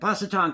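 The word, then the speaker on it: Pasquotank: I'm pronouncing that correctly it's p a s quu t n k and Paton County a confederal Monument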